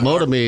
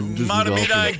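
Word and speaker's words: Mahtomedi: Motomy is how you say it at 1 o'clock in the morning. Motomy tomorrow. Matomedi, good morning.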